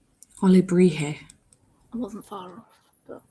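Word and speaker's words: alebrije: The J won't be pronounced like a J. Okay. Alebrie? Maybe? Olebrije. Olebrije.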